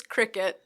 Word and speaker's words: Cricut: It's Cricut.